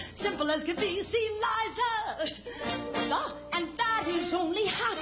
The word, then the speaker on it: Liza: It's no, Liza with a Z, not Lisa with an S, cause Lisa with an S goes snuts.